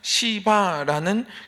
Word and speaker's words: 시바: 요나단의 종이었는데이 요나단이 죽게 되면서 무비보셋의 종이 된 한 사람의 이름이 있는데 그 사람은 시바라는 그 종이 있습니다. 발음을 주의하셔야 됩니다. 시바.